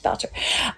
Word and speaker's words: Boucher: I think it's Boucher. It's Marcel Boucher. Um I don't think it's Ber, right? It's not Ber. It's Boucher.